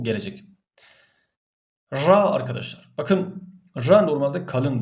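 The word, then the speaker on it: ر: olduğunu bilesiniz Normalde kalındır ra harfi re re diye okunmaz ra diye okunur Bir de şu da şu hata da yapılıyor R diye de okunmaz yani dil titreşim halindeyken bu e harf çıkartılması bu doğru değildir ra ra olabildiğince dili titretmeden bu harfi kalın bir şekilde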